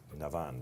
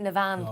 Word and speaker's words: Navan: up yeah this year how do we pronounce navin yep tricky one that out there navan the year people calling exactly no i don't i've never heard anyone call it nevan i heard one person about it no it was not